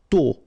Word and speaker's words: tôt: Tôt. Okay, final T not pronounced, and then this O accent circonflexe is a bit stronger than normally, so tôt.